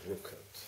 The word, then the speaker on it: Ruckert: This is Felix Ruckert, is that pronounced? Yes, Ruckert.